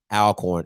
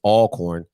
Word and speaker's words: Alcorn: here and they they're they're hating that you're pronouncing it alcorn it's all corn so get that listen